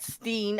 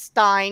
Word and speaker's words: stein: go I can't remember I said Steen I mispronounced it it's Stein because it's e-i-n you are correct Mrs